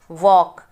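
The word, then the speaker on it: walk: वॉक, इसमें L silent रहता है।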